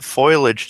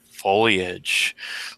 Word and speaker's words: foliage: so what about using that foilage to slow people down foilage yeah yeah you got a lot you've got a lot of plant like oh yeah Chloe foliage whatever Wow I got the redneck pronunciation boil foliage foliage you're right so uh what if